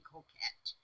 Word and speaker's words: coquette: Okay, that word Coquette, that must be coquette, because then it would rhyme with get.